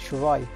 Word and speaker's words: Shirai: Can they pronounce Shirai? It's Shirai.